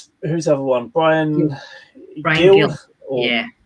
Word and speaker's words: Gil: Brian Gill. Yeah. I think they pronounce it in Spain as Hill, don't they? Yeah. But for intents and purposes for us English, Gill.